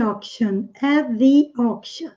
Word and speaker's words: auction: When I bought you at the auction. Ok? A U em inglês tem som O. Auction. Esse T tem som de X ou CH. Auction.